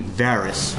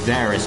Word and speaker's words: Beerus: well then he's like a slight correction it's actually beerus with an artist I thought it was Barris because in the first episode that they showed the preview for you guild reins they could pronounce it like Barris I will say